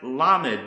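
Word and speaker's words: לָמַד: The next Hebrew word is pronounced Lamed, which is the same as the pronunciation of the letter Lamed, and it means to learn, teach, and to accustom.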